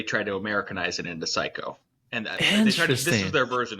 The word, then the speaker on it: Cayko: My last name is pronounced Psycho. It's no joke. So now nobody forgets who's listening to this show. They're like, oh, Psycho, but it's spelled Cayko. It's Cayko. All right. It's not Cayko.